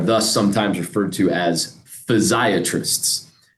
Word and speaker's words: physiatrist: And we are thus sometimes referred to as physiatrists, which there's some debate how you pronounce it. Some people say physiatrists, but that doesn't roll off the tongue as well for me. So I still say physiatrist.